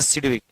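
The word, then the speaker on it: Sidgwick: आई डी जी डब्ल्यू वाई सी के जी silent रहता है इसका कोई यूज़ नहीं होता है लेकिन पढ़ते हैं सिडविक according to सिडविक इफ ई एन इ एन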